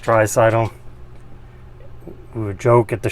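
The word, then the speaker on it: Draisaitl: now that's the that's how it's spelled it's pronounced tricidal we would joke at the show last year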